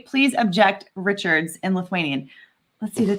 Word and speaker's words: Richard: Is it pronounced Richard in French? Richard? Oh, it would definitely be Richard. Yeah. With a hard R, a hard R.